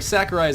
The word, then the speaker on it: Sakurai: like doctor I what Sakurai Sakura is a girl's name wrong yeah you said